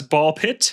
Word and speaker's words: Ball x Pit: Well, that's ball pit. Uh, it's spelled ball x pit if you're searching for it, but the x is silent when you say it.